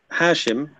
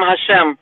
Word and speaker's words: Hashem: And okay, you believe in Hashim? Is it Hashim? How do you pronounce it? We call him Hashem.